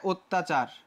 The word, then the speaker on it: অত্যাচার: সোজা হয়ে গেল যে যদি অর পরে জ ফলা থাকে তাহলে এটা কি হয়ে যায় ও হয়ে যায় যেমনটা হয়ে গেছে এই